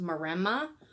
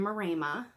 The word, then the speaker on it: Maremma: They are, for those of you who don't know, they are an Italian sheepdog, and the breed is called Maremma. Sometimes pronounced Maremma, but we call them Maremma, and they're just adorable.